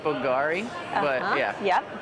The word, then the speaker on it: Bulgari: I think it's pronounced Bulgari, but yeah. Yep, Bulgari.